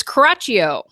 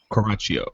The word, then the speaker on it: Coraccio: It's Coraccio. Coraccio. Coraccio. Coraccio. I married a nice Italian boy. All right. Coraccio. Did I say it right? Yep, Coraccio.